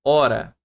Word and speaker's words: hora: Hora, galera, se eu riscar aqui para vocês esse H aqui, você consegue, ó, hora, certo? Então, foneticamente, né, eu tenho três fonemas.